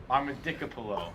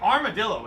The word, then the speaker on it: armadillo: And like armadillo is the most phonetically sounding word. Oh, yeah. Like, It's arm, all of the dill. dill. It's Oh, yeah. so easy.